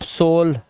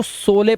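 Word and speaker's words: sole: अब पहले मैं भी सोचता था इसको सोले पढ़े, सोले, सोले, लेकिन फिर पता चला लास्ट का ई साइलेंट होता है और दो कॉन्सोनेंट के बीच में ओ आया, लास्ट में ई है, तो इसको ओ से पढ़ेंगे तो सोल हो गया ये।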